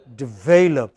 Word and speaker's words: develop: How should we pronounce the first word? Develop. What is it? Develop. Pronounce it this way. D. What is this? What is this? Develop. Okay. It is this which is stressed, but if you pronounce it as develop, then you know you are misunderstood. Then your listeners think you are talking about develop.